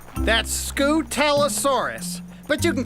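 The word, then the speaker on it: Scutellosaurus: My name is Scootalosaurus. That's Scootalosaurus.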